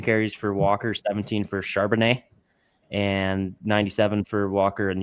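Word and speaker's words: Charbonnet: Charbanet.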